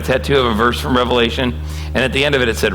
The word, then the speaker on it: Revelation: It's not called Revelations, okay? It's called Revelation. There's only one Revelation.